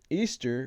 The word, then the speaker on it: Ishtar: It says, but as its roots, Easter, which is how you pronounce Ishtar, it's all about celebrating fertility and sex.